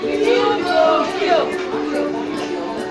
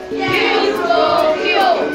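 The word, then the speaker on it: quid pro quo: Kill, pro, kill. Can we pronounce it? Kill, pro, kill.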